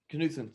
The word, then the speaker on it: Knutson: Knutson.